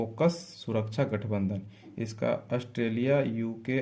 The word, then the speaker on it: AUKUS: Next question, AUKUS ओकस, इसको बोलते हैं ये ना, साइलेंट कर दो, ओकस सुरक्षा गठबंधन।